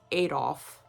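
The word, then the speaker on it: Adolphe: his friend ad do Leon now it's spelled Adolf but pronounced adol okay put a little bit more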